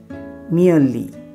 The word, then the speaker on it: merely: MERELY, उसको कैसे बोलते हैं? मियरली। R का उच्चारण नहीं करते, मियरली।